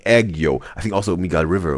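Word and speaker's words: 애교: Like this is like this and Penn says in YouTube chat the pronunciation is kind of like eggo. Okay. Like egg yo.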